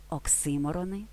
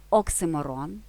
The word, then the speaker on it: оксиморон: у нашому ролику долучайтесь почнемо з наголосу лексема оксиморон або оксюмерон має подвійний наголос на другому складі оксиморон і на останньому оксиморон українські розмовній мові більш притаманний оксиморон з наголосом на останньому складі ви ж друзі вживайте